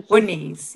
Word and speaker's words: Muniz: Muniz is a Muniz, yeah. Muniz, thank you. Please, like, just pull me up if I'm not pronouncing.